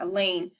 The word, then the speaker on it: Elaine: I may be a short-timer, but you don't have to be at our school very long to know that Elaine rhymes with pain.